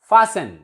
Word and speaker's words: fasten: And T is silent in all the words ending in TEN. For example, this word means to bolt, secure something. Fasten, किसी चीज को मजबूत करना और ज्यादा.